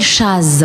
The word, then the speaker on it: Chazz: Oui, c'est entre jazz, Voilà, entre chat et jazz. chat, jazz, Voilà. jazz. Chaz. Voilà, c'est Chaz.